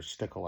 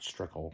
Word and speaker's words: Stickell: Um it is Luther Stickell I do believe, not Strickle.